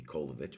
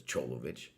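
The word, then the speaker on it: Čolović: Stunning because so we're we did a stream with uh Alexander Cholovich whose name if you were just to spell it in the Western world you would pronounce maybe Kolovich, but it's Cholovich.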